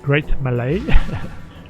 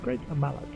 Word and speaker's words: Great Mallet: Is it pronounced Great Malay? Great mallet.